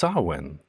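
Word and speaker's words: Samhain: which is written samhane but it's pronounced sawen which is basically pretty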